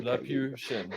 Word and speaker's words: Laputian: It's Laputi. Laputian guy. Yeah. Okay. Laputian. Yeah, like Lilliputian from Laputian guy.